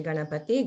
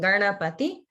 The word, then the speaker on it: Ganapati: And everybody notice that in Garna, the Erna sound is the retroflex. It's not like Ganna, it's Garna. So it's the where the tongue is pointing up towards the top of the head.